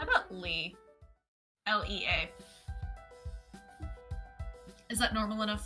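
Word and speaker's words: Lea: If you're in Kingdom Hearts land, it's pronounced Lee. We'll go with Lee then.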